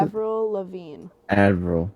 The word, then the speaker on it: Avril: Avril. It's like Adderall, like AD. Avril. Think of like an anvil. You know, like you make a sword on it. Yeah. But Avril.